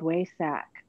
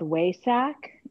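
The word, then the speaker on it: Wesak: They call, well, it's been for the past week, and it's called Waisak. And it's say again, I'm sorry. What's it called? It's called Waisak, and it's spelled, I put something in the link that describes it.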